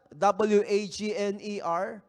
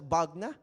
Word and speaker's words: Wagner: do you pronounce that w a g n e r Pag binasa mo wagner pero they pronounce that as bagna wagna ' ba w h